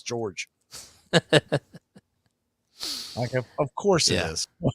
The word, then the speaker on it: George: last series George Soriano George this is pronouncing Jorge nothing it's George laughs of course it